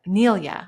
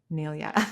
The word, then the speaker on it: Nelia: Neilia, I always say her name wrong. Sorry, Nelia that I say your name wrong.